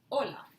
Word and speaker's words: hola: to write it because if we don't write it we write just hola that means wave the pronunciation is exactly the same but the meaning is